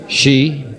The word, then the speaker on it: ski: and try the sheeran she that's the right way to pronounce ski george thanks you're welcome